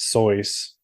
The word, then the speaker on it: Seuss: moral allegory about racism Dr Seuss's name is supposed to be pronounced soys but no one knows him as Dr soyce so No One's Gonna